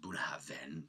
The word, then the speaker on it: Bunnahabhain: It's written Bunnahabhain, but it's pronounced Bunnahabhain.